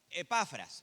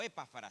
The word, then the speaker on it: Epafras: Epafras. Bien. o epáfara, según quien traduzca, le pone el acento en distinto lugar.